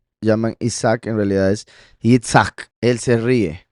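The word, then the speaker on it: יִצְחָק: Y aquí la Tzadeh es como una TZ, o sea, Yitzhak, pero ambas significan él se reirá.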